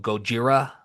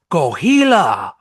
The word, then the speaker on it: Gojira: how they kind of dumbed down the pronunciation of Gojira in the film. Remind me again how they There's pronounced some it. guy, and because obviously this not in Japan, it's just this guy. He goes Gohila, Go and Hugh.